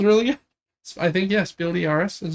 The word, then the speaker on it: Spiel des Jahres: Devin, do you know how to pronounce that? Spiel de Jahres. That was really good. I think, yeah, Spiel de Jahres is how they say it, I think.